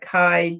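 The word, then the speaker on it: Ky: And if you want to go on to listen to the telepathy talks, and it's by Kai Dickens. Kai is spelled K-Y Dickens.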